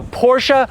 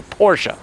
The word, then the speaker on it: Porsche: This is a Porsche Panamera Turbo. But before we get into this beefed up, twin turbocharged V8 all-wheel drive German luxury performance sedan, let's talk about what's going on here. Porsche.